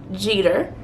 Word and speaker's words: Jeter: at this point so my name is jeter is spelled j-e-t-e-r it is not jetter it's just like the baseball player's last name most people in my